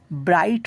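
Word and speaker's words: bright: তাহলে ব্রাইট হয়ে যাবে। কেনকি? শব্দের মাঝখানে জিএইচ থাকলে জি এইচটা উচ্চারণ হয় না।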